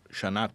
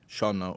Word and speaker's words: shana: By the way, the word Shana is a very interesting, like Rosh Hashanah or Shana Tova. Shana or Shana, same word, different accent. I'm just putting the accent on a different syllable.